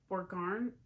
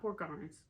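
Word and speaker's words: Borgarnes: this little town called borgarn no not poor Gardens or garnets I think it's how you say it I know the Ness is is said at the end there poor Garden is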